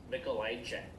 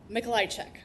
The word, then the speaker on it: Mikolajczyk: It's, for everyone, it's Mikolai check. So you just have to say it like 10 times in a row and you'll get a Mikolai check. Yep. Mikolajczyk.